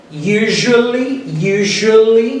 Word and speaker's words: usually: Eu pronuncio aqui, always, usually, esse Szinho aqui fica com esse som J.